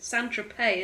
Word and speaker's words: Saint-Tropez: No, it's not pronounced that way. It's Saint-Tropez, isn't it?